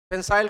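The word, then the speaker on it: pensile: पेंसाइल का अर्थ होता है झूलता हुआ।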